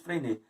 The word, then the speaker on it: Freinet: Mas nós temos como legado teórico, por exemplo, de Freinet, escreve-se Freinet, né? Mas pronuncia-se Freinet.